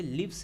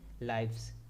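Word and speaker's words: lives: का हो जाएगा लाइव्स अब यहां पे लीव्स नहीं पढ़िए ये लाइफ से बना है लाइव्स इसलिए इसको लाइव्स बोलेंगे लीव्स नहीं देन काल्स उसका हो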